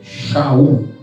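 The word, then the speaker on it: שאול: Então o livro de Atos menciona que ele chamava-se Saulo, que é o seu nome hebraico, é Saulo, que no hebraico é Saul, a pronúncia é Shaul, em homenagem ao primeiro rei de Israel, o rei Saul, da tribo de Benjamim.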